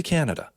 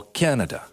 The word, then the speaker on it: Canada: Bem-vindo ao Canada. Yeah, so Canada, there's a tricky thing because in English, the stress syllable, it's Canada. Mm-hmm. Now in Portuguese, when you say Canada, the stress syllable is da.